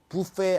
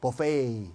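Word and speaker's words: buffet: 발레 아니고 벌레이, 부페 아니고 버페이 이렇게.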